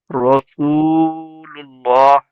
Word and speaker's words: রাসূলুল্লাহ: রসু, এখানে একালি টান হবে, ও সেকেন্ডে ডান দিকে পেশ ও র- মাদা। জি, রাসূলুল্লাহ।